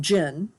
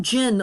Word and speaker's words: jinn: There are several J sounds in Arabic, and the DJ is a particularly hard J.